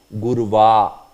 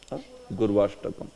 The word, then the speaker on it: Gurvashtakam: So the Ashtakam that we saw is known as Gurvashtakam. So here many times we mispronounce by saying Gurva. It's not Gurva, it is Gurvashtaka.